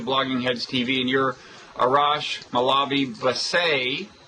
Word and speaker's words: Arash Molavi Vassei: I'm of Blogging Heads TV, and you're Arash Molavi Vassei. That is the way an American would mispronounce it, right? That's the correct American exactly.